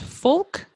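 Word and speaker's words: Fulke: Is it pronounced Fulk? Yes, that's right.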